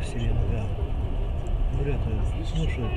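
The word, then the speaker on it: Селенга: Селинга буквально год назад узнал, что ее ударение на последнее слово Селинга.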